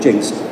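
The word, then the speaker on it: Jenks: Jinx it's actually spelled Jinx but it's it's pronounced Jinx just so you know in case you're ever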